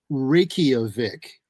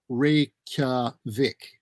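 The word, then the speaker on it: Reykjavík: I hear it as Reykjavik. I'm going to say that it along the lines of Tokyo, which is actually Tokyo, that this is Reykjavik. 3 syllables.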